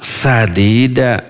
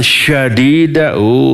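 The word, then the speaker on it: سديدا: Sin dengan shin besar itu beda. Artinya luar biasa. Wa qulu qawlan sadida dengan sin kecil. Lalu dibacanya dengan shin besar. Wa qulu qawlan syadida. Terbalik.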